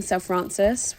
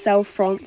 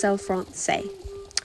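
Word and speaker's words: Selle Français: FR um or just self France say it's like saying ballet just because ballet has a t on the end doesn't mean you need to say it it's just cell France but again just say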